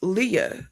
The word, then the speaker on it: Leah: it's le with no the H is silent like you don't add an extra like Leah okay that's weird